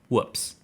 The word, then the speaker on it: WPPSS: The name immediately received a fortunate acronym, WPPSS, pronounced whoops.